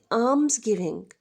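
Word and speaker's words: alms: आर्म्स गिविंग आर्म्स गिविंग इसमें ल आपका साइलेंट है और इसे आप बोलेंगे आर्म्स गिविंग आर्म्स गिविंग जैसे की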